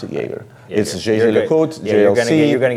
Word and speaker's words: Jaeger: Jaeger by the way you pronounce the brand like Jagermeister like the drink I pronounce it Jaeger you'll see you're going